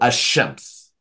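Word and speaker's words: الشمس: is alif lam, and the lam assimilates, well, in some Arabics, okay, fine, the lam will assimilate to certain letters that follow it, that come from the front of the mouth, such that the lam is not pronounced. So ash-shams.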